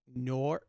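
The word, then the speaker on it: Nour: the next game was nor nor nor not like noir like noir it's n-o-u-r so i don't know how you pronounce that nor is it nor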